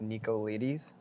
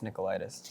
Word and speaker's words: Nicolaides: so bad yeah he was like the Greek pronunciation is nickel nickel ieds oh and then it looks like Nikko ladies mm-hmm but it's Nikolaidis so oh did when you were growing up